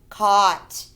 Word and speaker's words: caught: needs it were flew caught the g.h is silent caught were flew caught you're